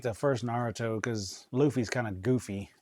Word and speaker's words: Naruto: Naruto? Yeah, Naruto.